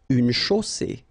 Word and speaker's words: chaussée: Une chaussée. Okay, here final E not pronounced, and then you get the double S between two vowels, so it's really strong. I mean, the S is s.